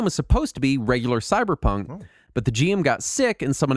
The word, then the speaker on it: CBR_PNK: The only way I know to pronounce it is Cyberpunk, but it's spelled. It's CBR_PNK. And it is a cyberpunk role-playing game using the Blades in the Dark rule set. That is intentionally unpronounceable.